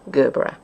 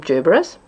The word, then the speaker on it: gerbera: people say drew bruh some people say gerbera I've always called them gerberas when I looked it up on the internet just to be sure I found that either pronunciation is acceptable so where it's a